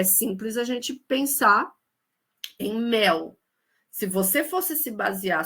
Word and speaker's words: mel: Então acentuação gráfica é simples a gente pensar em mel. Se você fosse se basear só no som, a palavra mel, que a gente escreve com L, não com U, apesar de pronunciar com U, a gente colocaria um acento, né, mé.